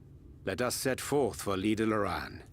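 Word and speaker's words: Lydha Lran: is in order let us set forth for leader luran L lauran that's how you pronounce it okay I am guessing lader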